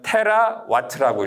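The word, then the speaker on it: 테라와트: 쓰는 에너지 그게 단위가 이걸 뭐라고 읽냐면 테라 와트라고 읽어요 그래서 w는 뭐냐면 여러분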